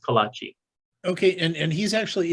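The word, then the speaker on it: kolache: let's see here um kalachi okay so it's pronounced kolachi okay and and he's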